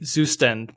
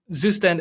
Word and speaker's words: Zustand: My my approach was that I I know of course the word, but I saw like you and other YouTubers say "Zustand" because you just can't say the word correctly in German.